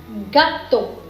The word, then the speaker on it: gâteau: EAU is again O, G is G, and A is A, T is T. In French, this is G, A, T, A, U. And EAU, in combination of these three letters, it makes a sound that is O.